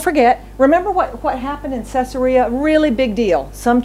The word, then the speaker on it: Caesarea: was at the port of what how to pronounce that Caesarea okay so Caesarea but that's not where he that's not where